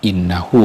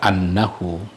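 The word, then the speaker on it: إنه: perkataan orang yang mengatakan, innahu bacanya ya, karena innahu itu jatuh setelah yaqulu, nggak boleh dibaca annahu.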